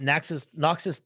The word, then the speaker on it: Knox: Not Nox's tagline is Nox with a K, but the K is silent, like me.